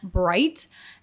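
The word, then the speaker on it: Breit: Ben Bright, I think that's how you say it, B-R-E-I-T.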